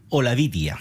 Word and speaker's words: Olavidia: Lola Bidia. C'est comme ça qu'on prononce, Juan José? Olavidia.